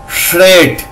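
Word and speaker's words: shred: এখানে কি হচ্ছে এস এইচ তালবস্য আর ই ডি রেড, তাহলে কি হবে শ্রেড, শ্রেড তালবস্য উচ্চারণ হবে কিন্তু এস এইচ এ শ্রেড, টি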